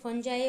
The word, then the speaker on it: fungi: सो mushroom के नाम ऊपर से ये नाम दिया गया है, फंगी और फंजाई और फंगी। ओके, आप जो भी प्रोनाउंस करना चाहते हैं वो कर सकते हैं।